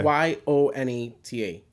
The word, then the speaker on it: Yonata: Y-O-N-A-T-A. Yonata. Yonata. Like my godmother, she won't even give me the Yonata.